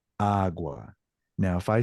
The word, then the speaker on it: agua: The reason why is it only has to work if the word is feminine, like agua, with the sound of your voice raising on the very first syllable, like agua.